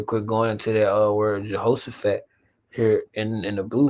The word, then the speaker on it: Jehoshaphat: I'll just read this real quick, going into that word Jehoshaphat here in the blue letter. Strong's H 3092. Yeah, they ain't gonna know. Yehoshaphat. You gotta pronounce it. Yehoshaphat.